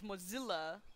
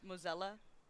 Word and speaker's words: Mozilla: got change mozilla's name it's Mozilla not Mo mozella Mozilla like Godzilla yep I like his